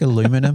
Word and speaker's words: aluminium: It's like aluminum, but you say it correctly. Maybe I'll actually be able to spell that if I use aluminium. I can't even say it. Aluminium.